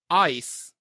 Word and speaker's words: Ais: Which I'm pretty sure Brandon says this ice. Yeah, I think my He does. initial is Ace, but I'd probably do Ice. Ice. I But kind of closer pronounce to ice than like the frozen ice. stuff. It's not Ice. exactly Yeah, like it ice. does sound like just ice. ice.